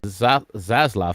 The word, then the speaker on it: Zaslav: WBD CEO David Zaslav. Did I say his name right? Zaslav? Yeah, that's actually correct.